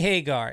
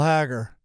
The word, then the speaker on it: Hagar: right let's do it pronounce the name Sami Hagar say it again Sammy Hagar s Sami Hagar now just say the last name Hagar now say the horrible the horrible hagger hagger the horrible isn't that how it